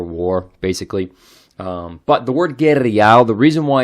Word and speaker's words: guerrial: the accent is that words that end in the letter r are usually pronounced like an l so the correct form